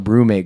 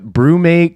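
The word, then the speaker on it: BruMate: it's a look up brewmate cooler. It's spelled with a U.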